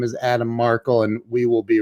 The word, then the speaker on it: Markel: I said, it's not Markel, it's Markel.